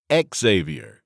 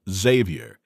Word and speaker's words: Xavyr: I'll bet you $100 to $1 that she also pronounces it Ex-avier instead of Xavyr, as it should be pronounced.